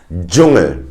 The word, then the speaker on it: Dschungel: If you see a DSCH, it is pronounced as a j, as in jungle. I'm gonna give you the same word in German, Dschungel. Another hint, if you see